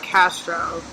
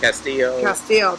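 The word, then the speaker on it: Castile: It's not Castro. Am I pronouncing it? Castillo.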